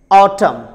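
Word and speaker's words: autumn: अगर letter N से पहले एम आ जाए तो लेटर एन साइलेंट होता है. जैसे आप ये एग्जाम्पल देखिए, ऑटम, डैम.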